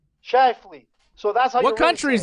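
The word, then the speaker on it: Scheifele: players what's his name shuffle no clue i've seen it spelled it's like scheifel is he germany my assistant's saying how do you say it shy flee so that's what country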